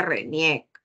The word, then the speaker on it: RENIEC: porque date cuenta que el acronimia se lee como una palabra no no se dice bcrp ni jnn y mtc se dice reniec entonces acá Nosotros aplicamos